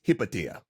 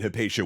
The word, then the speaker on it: Hypatia: In this series, we'll be using the Latin pronunciation of Hypatia, but in Greek, it's Hypatia. Now, we aren't fully certain when Hypatia was born, but it